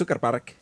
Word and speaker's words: Zugerberg: We were on the top of a mountain called the Zugerberg, pronounced Zuckerberg in Swiss German.